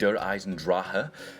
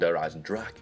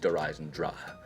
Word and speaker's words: Eisendrache: Dempsey actually stated it's called Eisendrache. I hope I pronounced that right, I'm doing my absolute best, but yeah, we've learned something new straight away, basically. It's not actually Eisendrache, it's Eisendrache. So the first main thing